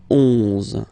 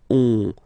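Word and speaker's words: onze: 10, okay, then 11, 11, okay, so O plus N give you the sound on, 11, 11, okay, final E doesn't exist phonetically, 11, okay, 12, 12.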